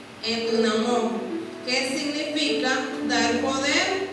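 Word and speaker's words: ἐνδυναμόω: La palabra griega que se usa allí se pronuncia en dunamón, que significa dar poder o fortalecer.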